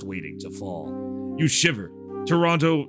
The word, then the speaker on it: Toronto: to fall you shiver Toronto or Toronto I I forget you don't you don't pronounce the second Toronto feels like it's